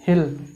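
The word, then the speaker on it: he'll: इसको बोलते क्या है? हिल। इसका प्रोनाउंसिएशन हिल होता है।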